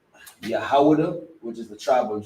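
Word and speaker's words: יהודה: In the Hebrew, it's pronounced Yahudah, which is the tribe of Judah, the so-called Negroes.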